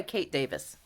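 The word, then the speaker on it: Kate Davies: So yes, that's the Blethen sweater, and that's by Kate Davis. And yes, that's how you pronounce her name.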